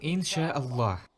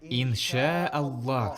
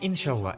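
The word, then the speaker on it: إن شاء الله: еще одно мы говорим ин шаа ллах скажите иншаалла скажите нет нет иншаалла скажите мне иншалла венчала иншалла иншалла это неполноценно нужно выделить ударение инша и потом авл а вот так надо говорить по сути здесь три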